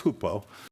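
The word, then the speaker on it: ὑπό: You kind of write it like H-Y-P-O, but it's hupo. So you can write H-O-O-P if you want, doesn't matter. It's Greek. Who cares what you're writing it like in English as long as you can pronounce it?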